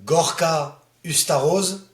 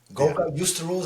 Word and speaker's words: Gorka Uztarroz: I know how to pronounce it right in French. It's Gorka Uztarroz. In English it always sounds bit weird, like Gorka. Gorka Uztarroz I suppose, but Gorka, Gorka, as you feel it, it's not a problem.